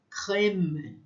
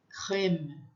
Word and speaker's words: crème: O som do E com crase, ele é aberto. Crème, crème, crème.